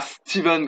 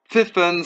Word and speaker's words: Stephen: Donc le topo du film reprend l'histoire de Dr Stephen, et pas Steven comme il est prononcé en VF, mais Stephen Strange, qui est un éminent